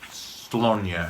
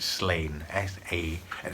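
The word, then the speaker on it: Sláine: AD, and the series was called, well, everyone pronounced it Slonia, and real, that's how it's meant to be pronounced, but I think most people just pronounce it Slain, S-L-A-I-N-E.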